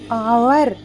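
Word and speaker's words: hour: क्या लगेगा एन लगेगा आवर ये क्या है आवर इसमें भी एन लगेगा क्योंकि ये एच क्या है यहां पे साइलेंट है उसके बाद आइसलैंड यहां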